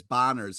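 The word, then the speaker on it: Bohner: talk about ralph boner just to be clear b-o-h-n-e-r connor is bonner's how you pronounce it it's ralph botter it's not ralph boder okay yeah wow um i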